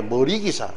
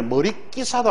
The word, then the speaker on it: 머리기사: 이건 발음이 머릿말이 아닙니다. 니은 첨가 즉 사이소리 현상이 일어나지 않습니다. 다음에 머릿기사도 아니에요. 머리기사. 이 둘은 기와집처럼 발음이 표기 그대로이고 사이소리 현상이 일어난 발음이 아닙니다.